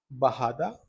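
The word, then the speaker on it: bajada: इसको हम प्रोनाउंस करते हैं एज बहादा। बट we write them as बजाडा। Okay.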